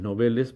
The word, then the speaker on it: novel: la misma fonética y que es novel y se escribe con v y por supuesto también es aguda se refiere a una